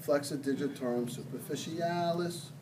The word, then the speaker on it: flexor digitorum superficialis: call this one, the flexor digitorum superficialis. You have to say it like that. Did you ever watch Mary Poppins? You know, No. supercalifragilisticexpialidocious, even though the sound of it may sound atrocious.